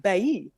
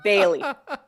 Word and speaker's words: Bailly: It is a French spelling. So I think back in the day it would be pronounced Bailly, but I just pronounce it Bailey.